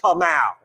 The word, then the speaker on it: Kamal: That's why, my name is so simple. It's like Kamal. It's like, I can handle that. Kamal. Okay. Kamal. 2 syllables.